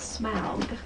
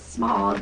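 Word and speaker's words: Smaug: what you think about smug although my son says it's smog not SM but I like the first pronunciation no I think it's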